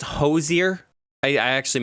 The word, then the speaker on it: Hozier: those aren't real people oh i think it's hozier i i actually mispronounced take me to church worship i'm gonna go with him final answer i gave it away you are correct it's it's hosei perfect those are the three people do not